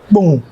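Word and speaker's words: Kpone: in pound k-p-o-n-e nothing boom yeah boom that's how we pronounce it I don't know okay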